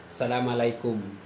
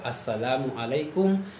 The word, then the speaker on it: assalamu alaikum: ay nagsalam, salam or sinasabi nila na salam alaikum. So hindi po nakukuha yung tamang bigkas po, tamang pagbigay ng salam. Dapat po assalamu alaikum wa rahmatullahi wa barakatuh.